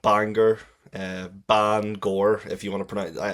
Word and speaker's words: Bangor: I was born and raised in Northern Ireland, in a town called Bangor, Bangor, if you want to pronounce it.